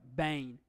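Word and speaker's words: בֵּן: We have a Bet, which is a Begad Kafat letter. It's got the Dagish. So as we saw with Av, it had no Dagish, received the V pronunciation. Here it's got the Dagish, so it's pronounced full B, Sarai, Bain.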